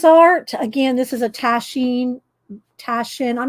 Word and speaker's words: Taschen: Taschen.